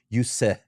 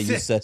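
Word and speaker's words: Juuse: was hoping to get UC Saros, or I'm pronouncing that. Yuse is how I know to say it now because I learned that today. Yuse Saros.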